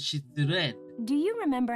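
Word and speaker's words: 失恋: So, failed and so shitsu and I, but it's pronounced as shitsuren.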